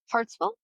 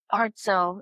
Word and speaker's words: Hartselle: Crybaby Hollow, which Crybaby Hall is in Hartselle, I guess is how you say it. Hartselle, Alabama. Hartsville? Hartselle. It has an S in it.